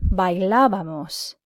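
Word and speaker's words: bailábamos: the correct imperfect ending I hope you said bye la vamos nosotros bye la vamos the accent is important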